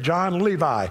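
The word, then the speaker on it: Jon Levi: That's the way he pronounces it, John Levi.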